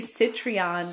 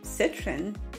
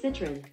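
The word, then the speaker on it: Citroën: okay I thought it was going to be citreon citro sit hold on I need help I I don't I've never heard of this card how to pronounce Citron oh Citron Citron oh that's much easier to pronounce than I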